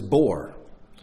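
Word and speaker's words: בור: the ox there is the pit pit is bore the eater the mava the mava and that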